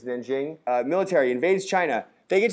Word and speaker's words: Nanjing: It's spelled with a J. It's Nanjing. Military invades China. They get to this city called Nanking.